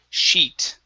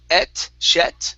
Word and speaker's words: sheet: word sheet okay so use an a long e sound instead of it's she sheet she uhhuh one more time she sheet sheet good good yeah so um the hard thing here is not to pronounce a short short I or a short e yeah cuz if you